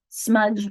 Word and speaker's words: smudge: DGE is a trigraph that represents smudge, 1 syllable.